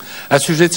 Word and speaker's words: assujettis: Assujetti, on prononce assujetti, mais ici, c'est le participe passé conjugué avec l'auxiliaire être, donc c'est le sujet nous, donc assujetti prend un S.